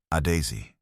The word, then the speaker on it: Adaeze: had ever said it, with the emphasis on the middle syllable, the way her grandmother had said it. Adaeze.